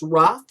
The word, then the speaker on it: Roof: Because when it was Dylan Ruff, yes, his last name is spelled like Roof, but it's really pronounced Ruff.